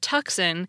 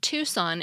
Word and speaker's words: Tucson: word the same way it took me to realize that tuxen and Tucson Arizona were the same place other misel include infra